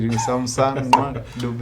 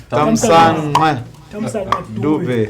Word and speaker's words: Thamsanqa Dube: Here we have some Thamsanqa Dube, much as there's a way they say Thamsanqa Dube. I need some lessons for that. Thamsanqa Dube.